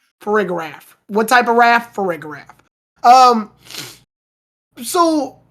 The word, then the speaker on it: Farigiraf: I think at this point, the problem is, it's pronounced Farigiraf. Farigiraf, yeah.